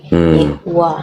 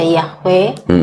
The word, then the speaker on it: Yehuwa: iya, tetapi lebih kepada pelafalannya dari Yod He Vav He atau Yod He Waw He jadi Yehuwa. Yehuwa. Karena memang menurut kalau ditilik dari bahasa Ibrani, kalau ada kan yang membaca Yahweh, itu kalau dari Yod